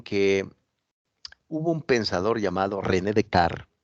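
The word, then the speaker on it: René Descartes: hubo un pensador llamado René dec René dec se escribe Descartes y fue un pensador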